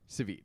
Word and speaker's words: Savit: And we talked a lot about it when we read Thrawn Treason, because treason, and Grand Admiral Savit, how was it pronounced, Kristen? Savit.